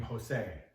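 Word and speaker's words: José: are very different so the J actually sounds like an H in English so like you know you've heard the name Jose it's not pronounced Jo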